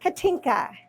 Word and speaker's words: Katinka: Katinka.